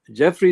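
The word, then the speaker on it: Giuffre: Jeffrey is spelled in a different way, G-U-I-F-F-R-E, rather than J-E-F-F-R-E-Y. So Virginia Jeffrey had sued Ghislaine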